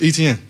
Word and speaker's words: Etienne: So I'm like, man, it's Etienne. Like how you see it is how you say it.